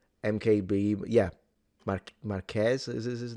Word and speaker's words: Marques: He is the guy who, you know, Marques is the one who Did I pronounce his name right? MKBHD, yeah. Mark Marques is his name cuz I always have a